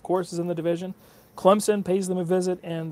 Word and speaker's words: Clemson: I can't stand when people call them Clemson. Well, that's how you say it. If anybody calls it Clemson, like with a Z, it sounds like a Z instead of a P, they're saying it wrong.